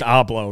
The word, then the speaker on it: hablo: You said hablo? You know, oh, it's just hablo, right? Hablo. Well, again, I butchered the language. The H's are silent.